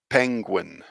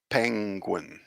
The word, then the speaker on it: penguin: then it would help so this word is penguin penguin i think a lot of people find this part difficult so you've got the win penguin so it's the combination of this so this that looks like an n with a little bit of a tail so penguin